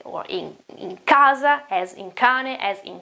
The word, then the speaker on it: casa: Or again, house, it is casa, casa, k, casa, cane. You can see that it is k, it's not ch.